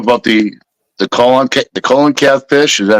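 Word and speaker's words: coelacanth: you know brought about the the colon the colon cath fish is that how you pronounce it seal oath yeah Seath all right so it's a fish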